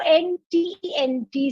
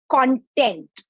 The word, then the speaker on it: content: there because c o c-o-n-t-e-n-t spelt in exactly the same way has two different meanings and therefore two different pronunciations one is content content is the thing